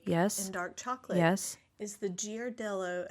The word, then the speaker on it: Ghirardelli: choose to partake in dark chocolate is the giardelloo. How do you say it? Girardelli. Ghirardelli.